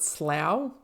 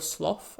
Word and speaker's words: slough: You could also pronounce it slow. Like that's how it's spelled. Slow or sloth as in cough.